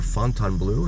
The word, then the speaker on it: Fontainebleau: And you can see Resorts World over there, as well as the Fontainebleau, or Fontainebleau, as I've also heard it pronounced.